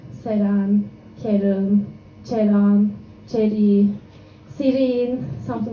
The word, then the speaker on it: Ceren: My name is Ceren. I know it's difficult to pronunciate it for me because I have a problem saying the letter R, and it's just in the middle of my name, Ceren.